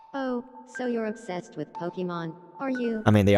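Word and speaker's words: Pokémon: Pokemon. Did they? Let's see. Pokemon. They did. They said it correctly because it has the accent on the E. Let me see this. Oh, so you're obsessed with Pokemon, are you?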